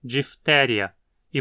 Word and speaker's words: diphtheriae: Assim como com a pneumonia, apesar de em português pronunciarmos como uma paroxítona, difteria, em latim dizemos diphtheria, e portanto diphtheriae aqui. O I afinal é curto.